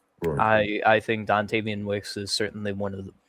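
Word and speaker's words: Dontavian: Dantavian, that's how you say his name.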